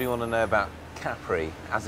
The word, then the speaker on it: Capri: Carey what do you want to know about Caffrey as it's pronounced locally well that was the first thing